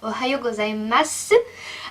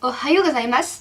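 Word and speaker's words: おはようございます: J'ai tendance à dire Ohayo gozaimasu, alors que non, c'est Ohayo gozaimasu. Cependant, les masu, en fait, toutes les formes qui s'écrivent su, mais qui vont se prononcer juste s, vont se prononcer su par les petits enfants.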